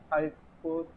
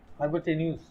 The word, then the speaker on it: hypotenuse: Hypotaneous. Hypotenus. Was it called hypotenus? Hypotenus. How do you say it? Uh, hypotenus. Oops. Hypotenuse. You say news.